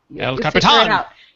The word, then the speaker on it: El Capitan: I'm sorry for people who don't know how to say it, but El Capitan.